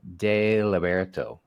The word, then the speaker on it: Deliberto: I have a great guest today Dr terara de lberto did I pronounce that right I was trying yeah yeah